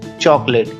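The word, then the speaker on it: chocolate: एल ए टी ई चॉकलेट बच्चा इसमें जो सेकंड वाला ओ है वो साइलेंट रहेगा इसको चॉकलेट नहीं चॉकलेट ही पढ़ेंगे बच्चा आज का आखरी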